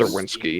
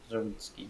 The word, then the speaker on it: Zerwinski: The sea is silent. The way I remember it is because it ends in a similar way to Prisbilski, so that's the weird way I have my ADHD brain remembers it. It's just gibberish. So the C is silent.